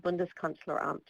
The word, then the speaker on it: Bundeskanzleramt: It got its name from the uninhibited view of the German Chancellery, which is called Bundeskanzleramt, and the Reichstag building. And Karina, please correct my pronunciation if I should be saying this differently.